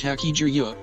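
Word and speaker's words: 八十: In Japan, the number 80 is pronounced Haki-ju-yo, so it was a meaningful year for Haki.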